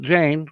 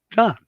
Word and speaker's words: Jan: You know, it's not Jane, it's John.